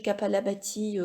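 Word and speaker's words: Kapalabhati: pas la bâtie alors ça s'écrit via h je crois mais vous cherchez capable a bâti comme ça se prononce avec un cas et vous trouverez des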